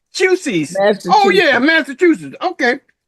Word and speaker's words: Massachusetts: Oh, Massachusetts. Oh yeah, Massachusetts. Okay, How do you pronounce it?